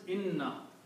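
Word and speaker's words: إنّا: So this word is inna and this word is na. Okay. When we read these together, these two words, we do not pronounce the shadda.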